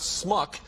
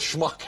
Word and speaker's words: schmuck: He's trying to teach Warren Beatty, who's from Wisconsin, I believe, the pronunciation of the word schmuck, which is not smuck, but schmuck.